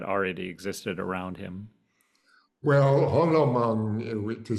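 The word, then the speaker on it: 红楼梦: How Long Meng, is that how you say it, Charles? No, it's Hong Lo Meng. Hung Lo Meng. I always get that wrong.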